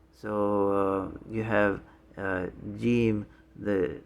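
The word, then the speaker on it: ج: the parentheses and so you pronounce it just like the english j okay and then the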